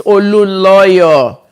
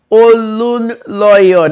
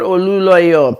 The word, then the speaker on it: Olunloyo: It's Olunloyo. Olun. Igbo people, they will never see the N, but where the N is not there, they'll see it there. Olunloyo, not Oluloyo, please.